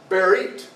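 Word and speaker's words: בְּרִית: And it's pronounced berit.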